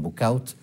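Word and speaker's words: Bouchout: en el castillo de Bushu, que ellos a los flamencos le pronuncian bookouts, eh mueren, nacen y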